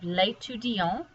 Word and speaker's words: l'étudiant: And this one, because it does not have an E on the end, you don't pronounce that T.